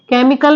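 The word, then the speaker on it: chemical: word है sorry केमिकल केमिकल में जो यहां पे एच आ रहा है सी के बाद वो भी साइलेंट है ओके नेक्स्ट वर्ड है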